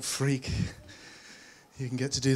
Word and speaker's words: Freke: So my name really is pronounced Freke. And if you can get through school with a name like Freke, you can get to do this.